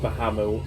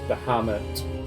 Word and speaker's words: Bahamut: Well, it's not Bahamut, it's Bahamut. My pronunciation very, very wrong there.